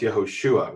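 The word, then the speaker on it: יהושע: And properly pronounced Yehoshua with the emphasis on Yehoshua, yes.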